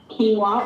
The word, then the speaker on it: quinoa: mix phyllo or phyllo depending on how you pronounce it quinoa or my father likes to call it quinoa